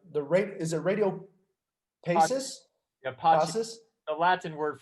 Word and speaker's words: Pacis: but who the the ra is it radio basis the hypothesis the latin word for peace oh i did not know that radio peace that makes a lot of sense yeah all right so radio passes pachis yeah good there you go raido pachis i